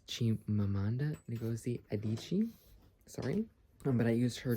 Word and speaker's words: Chimamanda Ngozi Adichie: And then this is Unit 1, Identity and Self-Discovery, and I don't know how to pronounce her name, so forgive me, but I think it's Chimamanda Ngozi Adichie, sorry.